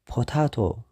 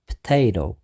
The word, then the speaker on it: potato: እዩ broccoli ራብዓይ potato ብዙሓት ሰባት potato ይብሉ እዮም እቲ ቁኑዕ ግን potato ኣብዚ እውን ሰለስተ syllable ኣሎ potato እቲ stress ግን ሕጂ ኣብቲ ካልኣይ syllable እዩ ዘሎ ኣብ ታይ ማለት እዩ potato ሓምሻይ tomato ብዙሓት ሰባት